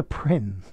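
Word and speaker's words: Prynne: hester payne sorry hester prin a name that deliberately rhymes with sin prin sin who is the protagonist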